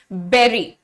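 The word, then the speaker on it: bury: बिल्कुल गलत है इसका करेक्ट प्रोनंसिएशन बिल्कुल ऐसा होता है आप चुपचाप से इसको कह दीजिए बेरी राइट आपको कैसे कहना है आपने कहना है बेरी this is going to बी the correct pronunciation spelling बेटा स्पेलिंग इस वाले की यह है और फल की यह है लेकिन प्रोनंसिएशन दोनों का सेम है गड्ढा खोदने को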